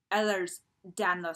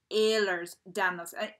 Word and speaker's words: Ehlers-Danlos: is the pronunciation so you may notice that I tend to say ehlers-danlos syndrome other people it's Ahlers down those and you know it's very similar and also quite different and then of course